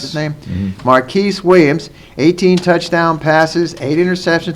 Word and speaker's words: Marquise Williams: Rosen and he's an inexperienced quarterback senior quarterback here now Marcus is at marquice that he pronounced the same marquise Williams 18 touchdown passes eight interception 26 hundred yards